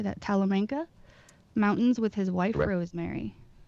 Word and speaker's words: Talamanca: small farm in how do you say that talamanca mountains with his wife rosemary is that right